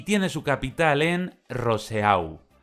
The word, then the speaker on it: Roseau: tiene su capital en roseau que los franceses pronunciarían algo así como buzo la siguiente Isla que